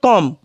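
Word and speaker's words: comb: में कंगा रहता है उसे हम बोलते हैं कॉम विषम पंब नहीं बोलेंगे यहां बी हमारा ये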